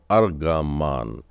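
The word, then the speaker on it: ארגמן: वही तो अर्ग वानी रंग जिसे कहते हैं उच्चारण इसका आता है अर्ग मान अगले शब्द पर आगे बढ़ेंगे हम लोग यह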